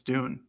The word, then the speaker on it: Dune: Luke Dune, as we now have learned, we've been pronouncing wrong for weeks on end now. So that's good. So Can we just, really guarantee that's the pronunciation, though? Well, I asked Nate Kruger, our Oregon's SID for the football team, and he confirmed it's Dune. So Okay. yeah, it Like wasn't just Don.